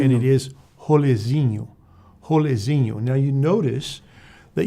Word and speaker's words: rolezinho: Rolezinho. And it is rolezinho. Rolezinho. Now, you notice that you heard the pronunciation.